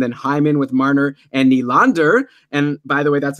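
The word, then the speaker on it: Nylander: Hyman with Marner and Neal and ER and by the way that's another pronunciation I got corrected on yesterday it's William Neal and ER not kneel and ER so anyways I was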